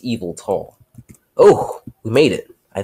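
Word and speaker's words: Yveltal: His name's pronounced Evil Tall.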